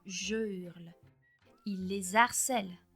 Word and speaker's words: je hurle: donc pas rare entendre des erreurs comme j'urle à la place de je hurle il les harcèle à